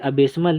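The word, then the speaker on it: abysmal: okay तो जो हमारी अबेस मल है इसको हम अबेस मल स्मल आप एक बार इसको स्लो मोशन में प्रोनाउंस करिए देखिए अबे स्मल अबे स्मल अबे स्मेल अबे स्मेल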